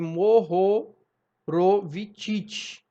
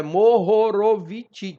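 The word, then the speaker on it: Mohorovičić: que a gente conversou né a descontinuidade de mohorovicic assim que se pronuncia tá Morrow ro eu tenho um problema de dicção não deixa eu falar isso ah mas é mohorovicic ti tá bom E aí como eu dizia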